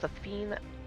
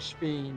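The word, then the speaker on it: Sphene: Perhaps about Safine as well. They literally just said Speen, and you already mispronounced the name.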